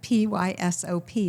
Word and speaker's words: PYSOP: And it's spelled PYSOP. AI gets it wrong every time. But PYSOP is PYSOP, and it is an acronym for Put Your Stuff on Paper.